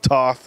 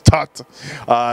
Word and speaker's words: Toth: though it's T oth guys it is not pronounced Tov it's tucked Daniel yet a solid placing here last year